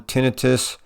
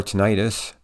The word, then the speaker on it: tinnitus: as for the pronunciation there are two pronunciations you will hear neither is the preferred one tinnitus or tinnitus either is correct tinnitus itself is considered